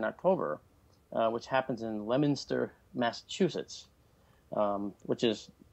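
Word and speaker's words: Leominster: UFO Conference in October uh which happens in lemonster Massachusetts um which is pronounced lemonster but spelled Leo Minster okay uh is uh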